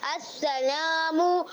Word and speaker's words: السلام: اس کی ہجے کچھ اس طرح ہے: سین صبر سا، لام الف زبر لا، سلا میم پیشمو، سلامو السلام یعنی سلامتی دینے والا، یعنی سلامتی دینے والا.